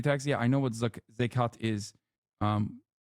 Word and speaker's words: Zakat: single shit about, not criticism of Sombra, you're mispronouncing Zakat, which is the Islamic yearly charity tax. Yeah, I know what Zakat is.